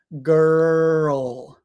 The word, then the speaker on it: girl: the tongue is down so what you do is you put your tongue up and then down so first word girl girl and that's the um it's a difficult word but that's the easiest way to think about it is tongue up and then drop it down Earl girl curl world